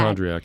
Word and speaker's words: hypochondriac: hypochondriac. It's a big one. Hypochondriac. 5 syllables.